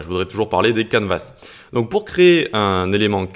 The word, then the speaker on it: canvas: Donc déjà, juste pour la prononciation, ça se dit canvas avec un S en anglais et on a quand même le mot can français qui veut dire à peu près la même chose.